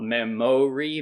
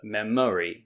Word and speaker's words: memory: same uh sound uh also in the word memory so not memory but memory do you have a